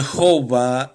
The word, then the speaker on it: Jehová: yagüe pronunciaban entonces adonay la pronunciación de jova es más o menos una pronunciación más antigua pero menos precisa y esas letras de